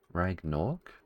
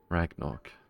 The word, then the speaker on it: Ragnarok: Ragnork? Have I been misreading that this entire time? Ragnarok. There we go.